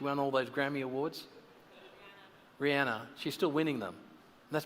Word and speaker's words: Rihanna: Unless you're Rhiannon. Is it Rihanna? How do you pronounce her name? She won all those Grammy Awards. Rihanna.